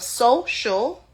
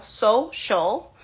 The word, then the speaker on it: social: we're also going to notice how the CI is making the sh sound. And that's your phonics version, right? So once you're also going to count the syllables of social.